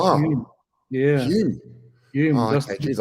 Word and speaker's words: Hulme: So my one's L is silent, so it's actually Hume.